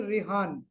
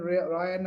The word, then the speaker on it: Rehan: I think his name is Rehan. Okay. Maybe some Maybe pronunciation. he modernized it when we were in England Yes, to make it easy for us. yes. I think Rehan name is Bright, so Rehan. So some people say according to their pronunciation Ryan or something.